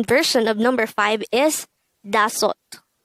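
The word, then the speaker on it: 다섯: the native korean version of number five is da sot pronounce it with me tassot this is composed of two syllables the first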